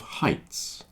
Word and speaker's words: height: like height and height so height you have a fear of heights that word is pronounced height if you dislike something the